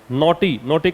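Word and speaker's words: knotty: तो इसने क्या किया इस मीटिंग ने कुछ नॉटी का मतलब लिखिएगा कॉम्प्लिकेटेड, मैं इधर लिख देता हूँ, बहुत इंपॉर्टेंट वर्ड है नॉटी, के इसमें साइलेंट रहेगा।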